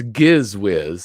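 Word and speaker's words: Gizz Whiz: the the giz whiz it's giz whiz it's not a a soft g oh well i hope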